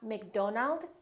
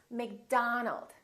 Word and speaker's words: McDonald: Make sure that you don't say oh, it's not Robert, it's Robert. It's not McDonald, it's McDonald.